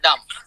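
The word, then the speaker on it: dumb: বোবা দেখেন এটা বোবাডাম ইউ এমবি উচ্চারণ করা লাগবে না ডাম সুমন বুকমন সুমন বধির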